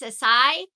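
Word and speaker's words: açaí: It's called I call it a kai, but it's a sai, I think is what my friend at work told me that I'm saying it wrong.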